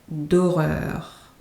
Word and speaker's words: horreur: Les films d'horreur. So, contrary to the English, the H in French is silent. So it's like it's not there.